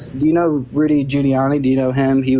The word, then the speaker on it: Giuliani: do you know Rudy juliani do you know him he was his name his name is pronounced Giuliani not can you wait I'm